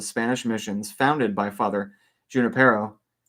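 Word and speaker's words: Junípero: missions founded by Father Junipero. Right? It's Junipero? Or I think in that instance, I think it's pronounced like a J.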